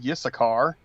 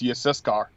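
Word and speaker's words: יששכר: and Yehuda, and Yissaschar, and Zebulun. Yep. Zebulun. Yep. And those names are hard. I'm telling you, like, a lot of people get Yissachar wrong. It's Yissaschar.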